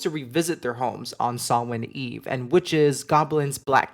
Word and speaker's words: Samhain: if you've seen this word, you might have pronounced it Samhain before. Not gonna lie, I've read it and used to pronounce it that way until I heard it said, and it is Samhain.